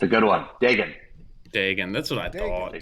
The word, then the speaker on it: Dagan: but I figured I used to have to like tell people like Megan with a D because like Yeah.